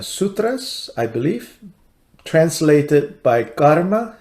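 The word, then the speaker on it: Garma: But the only translation that exists is in a volume called Mahayana Sutras, I believe, translated by Karma, spelled with a G, G-A-R-M-A, Chang, C-H-A-N-G.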